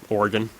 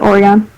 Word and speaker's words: Oregon: Okay, how do you say the state below Washington? Oregon. Close, yeah. Oregon. Some people pronounce it Oregon. Yeah, and that's retarded.